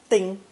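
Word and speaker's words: 叮: First tone, ding, literally having a mouth like a nail.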